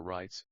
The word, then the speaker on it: REITs: investors rights real estate investment trusts or rights pronounced REITs are companies that own